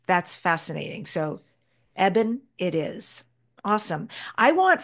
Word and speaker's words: Eben: correctly is that right well eban is probably the best but I'll answer to many things but Evan that's how I usually pronounce it Ean like Evan right and it it originally came from Ebenezer six Generations ago they dropped the easer thank goodness so it's now just eban but that's an easy way to remember the pronunciation it is and I